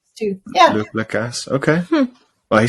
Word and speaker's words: Lacasse: Annalise Garcia, formerly known as Annalise Garcia, now Annalise Lacasse. Yes, She's lobbying for our last name to be pronounced Lacasse, which I understand, actually. all right. How would the French say it? La Casse.